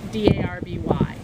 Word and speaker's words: Derby: But it was spelled a lot D-A-R-B-Y, which meant that it was pronounced Darby. But current pronunciation, when you speak of Derby Street or the Derby House, is to pronounce it D-E-R-B-Y.